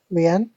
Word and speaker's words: rien: She does it with her French pronunciation properly. She goes no rien de rien, no je ne regrette rien. That's how she says it. She has all the dry R's going on and on